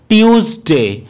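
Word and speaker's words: Tuesday: এই দিনটিকে আমরা ভুলবশত টুউজডে বলে থাকি, যেটি কিন্তু এর সঠিক উচ্চারণ নয়। এই দিনটির সঠিক উচ্চারণ হলো টিউজডে। টিউজডে।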